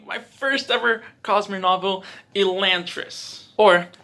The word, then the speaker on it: Elantris: first ever cosmere novel elantris or as the official brandon sanderson website says it's pronounced elaine tris which i don't agree